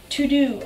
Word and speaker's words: Teux Deux: Okay, third app is To-Do. Now, this app is not spelled T-O-D-O like you would think. It is spelled T-E-U-X. D-E-U-X.